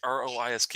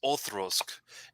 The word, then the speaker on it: Auchroisk: it's Auchroisk, but it's pronounced Othrosk, and Right.